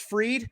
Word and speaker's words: Fried: tomorrow you've got a it's spelled fried pronounced freed but you got him